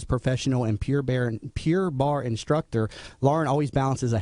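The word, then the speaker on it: Pure Barre: Jamie thanks for having me I'm having problems pronouncing I keep want to say pure bear it's pure Bar right the first yes Pure Bar Pure Bar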